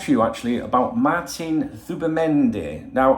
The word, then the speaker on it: Zubimendi: But I've come to talk to you actually about Martin Zubimendi. Now, I know you want to pronounce it Zubimendi or whatever, but Z in Spanish is pronounced TH.